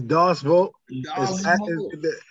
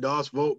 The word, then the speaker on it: Deus Vult: creators of help me pronounce this is it duval it's doss vote it's it's pronounced do awesome it's latin but we pronounce it dogs vote because of the fact is we knew it